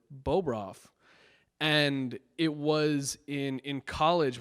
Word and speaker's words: Bobroff: And it was always pronounced Bobroff. That's just how I grew up. I was Bobroff. But everybody pronounces it Bobroff.